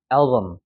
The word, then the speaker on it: album: 자, 여기 같은 경우도 왜 우리 사진첩을 앨범 하잖아. 근데 여기에 강세가 적용되고 얘는 죽어버리기 때문에 album이 되는 거예요. album.